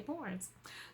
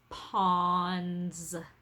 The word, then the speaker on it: ponds: Ponds. Ponds. I don't even worry about that D.